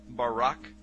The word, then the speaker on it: barak: So lightning, or a flash of light, in Hebrew, is pronounced barak or barak.